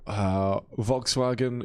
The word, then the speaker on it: Volkswagen: So, Volkswagen is pronounced Volkswagen. See, I didn't know that it was like Volkswagen. We just say Volkswagen here, or Volkswagen. You know, we don't put it in accent.